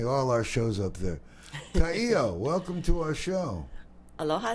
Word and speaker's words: Ka'io: put in say all our shows up there Kao Welcome to our show Aloha thank you for having me am I pronouncing it right you are okay yeah I